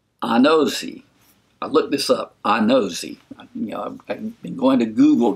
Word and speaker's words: Anozie: I looked this up, Anozie. I've been going to Google to try to get these pronunciations. So Nonso Anozie.